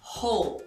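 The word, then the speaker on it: Hole: E a pronúncia é com H aspirado no início, ho banda nickel back significa seu troco de volta.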